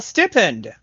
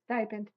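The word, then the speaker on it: stipend: My lord gave me only a small stippen. Not the point. Stipen. Stipen. God dang it. Is it? Yes.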